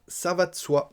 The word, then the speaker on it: ça va de soi: Quatrième expression : "Ça va de soi". On mange un "e", "ça va de soi".